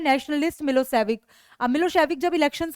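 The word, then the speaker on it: Milošević: A narrow minded SERB nationalist मिलोसेविक, pronounce मिलोसेविक, हैड वॉन the election.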